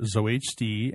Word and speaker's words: ZOHD: ZOHD, yeah.